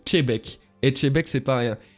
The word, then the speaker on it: Xebec: Xebec qui se prononce pas Xebec, qui se prononce Chebek.